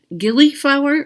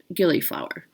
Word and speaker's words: Gillyflower: Next up, we have, is it Gillyflower or Gillyflower? Gilly, I'm going to go with the hard G.